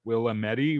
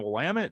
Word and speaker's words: Willamette: But somebody comes around and they're like, Willamette River, is that the one I need to go fish at? It's like, oh, you mean the Willamette? They're like, that's how you say it.